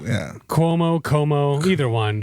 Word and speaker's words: Cuomo: Like Cuomo? Yeah. Cuomo, either one. It's a C, but it's pronounced like a Q.